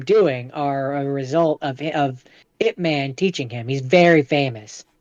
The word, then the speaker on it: Ip Man: Wait, so And this is one, his name actually Ip Man or is it IP Man? no, it's technically it's Whip, like with a W, Oh, Whip Man, but it's pronounced Ip Man. gotcha. Um, as I understand it, or Yip, sorry, Grandmaster